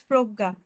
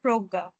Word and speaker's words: Prajna: Uh, no, ma'am, it's Progga. Good evening, ma'am, and hello, everyone. Yeah, you are saying Proga, but it's written as Prajna. Yes. Actually, the ma'am pronunciation is like that, Progga.